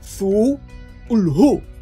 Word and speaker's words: Cthulhu: si por Lovecraft fuera, preferiría que se pronunciase como Cthulhu, con las sues largas y profundas, que se sumaría a todas sus anteriores recomendaciones.